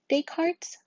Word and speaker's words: Descartes: There's Descartes' rule of signs. That S is silent. Descartes' rule of signs.